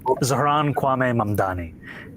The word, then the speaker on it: Zohran Kwame Mamdani: If you can respond to that and tell us how you say it, your full name. Zohran Kwame Mamdani.